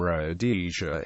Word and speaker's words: Rhodesia: name should have been pronounced with the emphasis on the second rather than the first syllable the historian Robert Blake